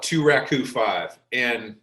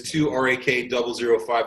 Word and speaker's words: 2 RAK005: We call it 2 Raku 5, but it's 2 RAK005.